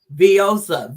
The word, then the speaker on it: Veozah: It is Veozah, Veozah.